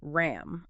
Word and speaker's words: RAM: The prescribed mantra is RAM, R-A-M, but it breaks down the specific phonetic components of the sound.